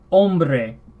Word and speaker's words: hombre: number five we have hombre remember in Spanish th at the begin of the word which is almost always when we're to begin the word I believe and it is silent hombre male or male